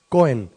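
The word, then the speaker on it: kohen: En hebreo se escribe K-O-H-E-N, Cohen.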